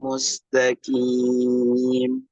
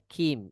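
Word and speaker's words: مستقيم: Dengan huruf qaf. Mustaqim. Qim. Ihdinas siratal mustaqim. Masih ada kim. Itu seperti huruf kaf bunyinya. Huruf qaf masukkan pangkal lidahnya itu ke dalam lagi, ya. Di belakang huruf kaf.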